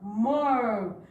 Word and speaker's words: more: In this word more, letter E is shy. And you remember I told you if letter E is shy, it means the letter is silent. It means the letter is what? Silent. So this is the word more.